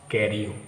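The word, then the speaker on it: Carew: कैरियो को उच्चारण भी ध्यान से समझ लीजिए, जैसे FEW हम लोग फ्यू पढ़ते हैं, JEW जीव पढ़ते हैं, MEW म्यू पढ़ते हैं, DW ड्यू पढ़ते हैं, वैसे CA से के पढ़ेंगे और R से रिव,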